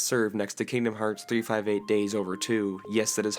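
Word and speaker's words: 358/2 Days: From a plot standpoint, this game is best served next to Kingdom Hearts 358 Days Over 2, yes that is how you pronounce it, and Knuckles.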